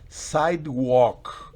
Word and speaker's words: sidewalk: Sidewalk. Miren que la L no se pronuncia. Recuerden, el verbo walk, de caminar, la L está presente, pero fonéticamente no existe.